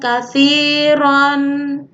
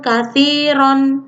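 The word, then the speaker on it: كثيرا: Cara membacanya bukan wa nisa'an katsiron, bukan. Tapi cara membaca yang benar karena ini mad iwad adalah wa nisa'an katsiro. Ron di sini dibaca 2 harokat menjadi ro. Wa nisa'an katsiro.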